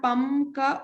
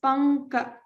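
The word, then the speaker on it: पङ्क: It's not pamka or panka, it is panka because this is in the ka varga itself.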